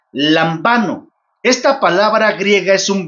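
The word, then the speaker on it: λαμβάνω: Lambano, como se debería de pronunciar, lambano.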